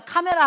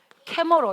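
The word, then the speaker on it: camera: 캐머러 이렇게 해야지 알아듣는다고. 근데 캐머러인데 왜 우리는 카메라라고 하고, 레이디오인데 우리는 왜 라디오라고 하는 거야?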